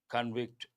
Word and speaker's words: convict: Punima plaintiff, equit, guilty, convict, innocent. Convict verb form. Same spelling but as a noun we have to say convict. Pronunciation changes.